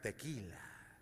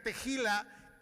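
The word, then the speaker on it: תהילה: La tercera es tejila. Pronúnciela bien, no va a decir tequila. Que significa tejila, canta un cántico de acción de gracia.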